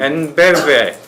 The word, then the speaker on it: EnBW: 그 ENBW라는 네. 독일 발음으로는 엔베베, 네.